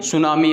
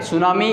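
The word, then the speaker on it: tsunami: का एक शब्द है, और टी उसके अंदर क्या रहता है, साइलेंट रहता है। वैसे तो सुनामी बोलते हैं, तसुनामी, लेकिन हम क्या होता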